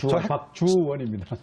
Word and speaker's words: 박주원: 발음 잘하셔야 됩니다. 박주원입니다.